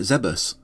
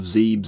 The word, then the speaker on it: Zebes: Even if I use them for years, I've never had any difficulty dropping the likes of Zebes and Tidus for Zebus and Tidus. Just don't come near me with that Zebes crap. That rhymes with heebie-jeebies, it couldn't possibly be right.